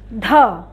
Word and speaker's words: ধ: এটার উচ্চারণটা একটু কি বলেছি দেখ, শুনতে পাচ্ছ তোমরা আমি কি বলেছি? তাহলে আমরা আরেকবার শুনি, ধ। এটা ধাক্কা দিয়ে আবারও বলেছি, ধ, হ উচ্চারণ আসে এটা, ঠিক আছে?